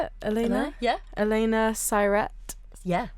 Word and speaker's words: Siret: Elena Siret. Yeah. Siret rhymes with pirate. Oh, Siret. Yeah. Like pirate.